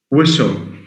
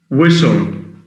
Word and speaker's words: whistle: Whistle. Whistle. Can you stop whistling? That's a tough word. Whistling. He was whistling. دكتور WISELING. Whistle. WHISTLE. TLE. Where the T is silent.